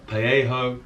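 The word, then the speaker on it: parejo: classifications or three classifications you have a paello which is spelled with J but silent which isn't good for my dyslexia but a straight sided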